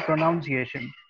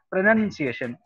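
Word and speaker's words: pronunciation: बचपन में हमें टीचर ने ऐसे ही सिखाया कि इट is called प्रोनाउंसिएशन एंड अब हमें बोला जाता है कि इट इज सेड प्रोनंसिएशन.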